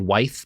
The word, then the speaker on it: Wythe: It's spelled Wythe, but it's pronounced Wythe, apparently.